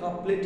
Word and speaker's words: couplet: कपलेट नहीं कहते हैं भाई, कपलेट है, स्पेलिंग देखो ना, COUPLET।